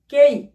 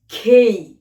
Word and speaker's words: K: এটি কি উচ্চারিত হবে? কেই? নো, খেই। কারণ অ্যালফাবেট রাজ্যের যতগুলো লেটার আছে সেখানে কে বলতে কেউ নেই, তাই কি বলতে হবে? খেই খেই খেই খেই।